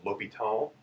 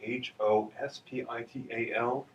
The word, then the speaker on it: l'Hôpital: Now uh apparently his name actually was spelled at the time H O S P I T A L. Uh but a lot of people when they see that they start saying hospital.